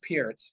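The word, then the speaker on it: Pirc: Philindor defense or the Perk defense. Is that a thing? Yeah. Well, it's pronounced Pierce, but yeah.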